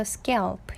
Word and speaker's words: scalp: 요거 A 발음이에요. 그래서 scalp 이렇게 발음하시면 되고요.